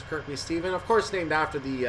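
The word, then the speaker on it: Kirkby Stephen: Kirk B Stephen I'm pretty sure it's not pronounced Stefan the CNS Stevens in North America we have a green signal so uh if I'm right this is Kirkby Steven of course named after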